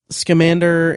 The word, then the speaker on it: Scamander: creatures it's like there's a scene where um scamander and I'm pronouncing that right right yes schander and um